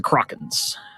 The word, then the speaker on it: Kraken: Let's go with the Krakens. The Krakens. All right, so I'm sitting at 9-5 or 9-4. 9-4. 9-4. Oh, so I'm good. All right, now I'm playing to stay at 750 or above. Krakens.